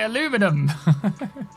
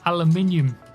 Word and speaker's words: aluminium: Say aluminum. Say it properly. You're British. I'm British. Say aluminium.